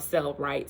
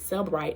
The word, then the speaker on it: Cellebrite: They hook it up to a machine from a company called Cellbrite. Cellbrite is spelled CELLEBRITE.